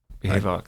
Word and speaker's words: Behavox: So Neil is the Chief Marketing Officer at, am I saying it right, Behavox? That's right, Behavox.